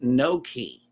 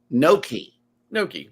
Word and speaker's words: gnocchi: It says that word that I pronounced a while ago is pronounced Noki. Noki. Without the G. Noki. Yeah. It's in Italian.